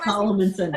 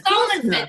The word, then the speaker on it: Salomonson: Salomonson. Salomonson.